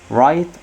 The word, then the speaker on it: write: حروف الجر prepositions at the end of, frightened of, learn about, shout at, write on a website. ونلاحظ ان حرف ال W هنا حرف silent لا ينطق.